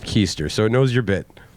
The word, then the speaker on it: Keester: Keester, pronounced Keester, so it knows your bit.